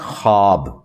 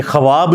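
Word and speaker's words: ख़्वाब: हुए उड़ जाति है इसको पढ़ने का तरीका है खाब ये ख्वाब नहीं पढ़ा जाता वैसे उर्दू में चल भी जाता है लेकिन ये लफ्ज़ है ख्वाब तो वो उसमें फिर साइलेंट हो जाति है तो यह जो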